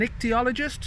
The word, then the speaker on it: ichthyologist: a vet, or I'd like to be an ichthyologist. Is that how you pronounce it?